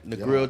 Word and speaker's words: Negril: Am I saying it right? Negril, Jamaica. Yeah, you're right.